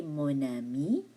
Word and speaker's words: mon ami: C'est mon ami. Mon ami. There will be the link there. There's a link there. A liaison.